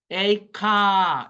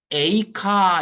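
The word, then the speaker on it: איכה: 그러면 그 아바음에서이 히브리어로는 첫 단어로 나온게 에카 이겁니다. 오 예를미야 에가 우리 한자지만 에가하고 상당히 발음이 비슷하죠. 에카 또 뭐 더 정확하게 얘기하면 뭐 그 히브리어 전공으로 하시는 송민원 교수님 같은 경우에는 에이카 이러더라고요.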